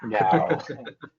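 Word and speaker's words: gau: Yeah, I was gonna say, how do you pronounce this thing, Corbin? GAO.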